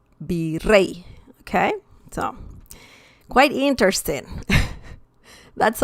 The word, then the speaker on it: virrey: For example, virrey. and that means viceroy. So virrey. Rey has the stress. Rey, virrey. It's not virrey, it's virrey.